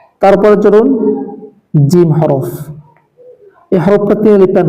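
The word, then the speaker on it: جيم: তারপরে চলুন জিম হরফ। এই হরফটা তিনলিপ টান হবে এবং এটি উচ্চারণ হবে জিহ্বার মধ্যখান তার বরাবর উপরের তার সঙ্গে লাগিয়ে।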